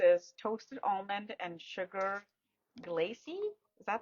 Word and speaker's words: glacé: It's what's the details of the scent The and scent notes, top notes yes, is toasted almond and sugar glacy. Is that how you say it? glacé, Glacé.